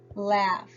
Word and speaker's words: laugh: have a bowel team laugh and we have gh working together to make the sound of an F now I'm going to